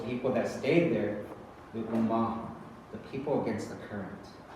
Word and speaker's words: Omaha: He's like, they pronounce it with a U, not an O. It's U-Maha.